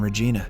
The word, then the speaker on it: Regina: She introduces herself as Megan Walsh from Regina, Canada, but she pronounces it to rhyme with vagina.